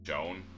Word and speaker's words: Joan: Though someday she'd depart in part I'd never be alone and my heart always be the son of Joan rhymes with alone.